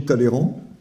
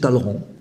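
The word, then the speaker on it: Talleyrand: de alors quelque chose j'ai toujours dit taléran c'est Taleran en fait il faut pas dire le E euh de même que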